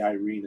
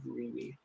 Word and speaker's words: Irene: I appreciate the Irene instead of Reenie.